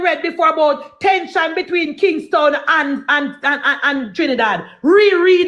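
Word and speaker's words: Kingstown: Porter Spain that not Kingston but King. Thank you. Town town. It is spelled K I N G S T O W N. Thank you guys. Not Kingston. Kingtown to od yes on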